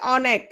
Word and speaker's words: অনেক: কিন্তু দেখো তো অনেক, আমি কি বলেছি অনেক, অনেক এটা বলেছি নাকি অনেক? অ অ উচ্চারিত হয়েছে, অটা অই উচ্চারিত হয়েছে, এটা হচ্ছে বিবৃত উচ্চারণ।